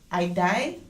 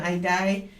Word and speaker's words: Idai: Cyclone, how do you pronounce this? Idai? Yeah, cyclone Idai.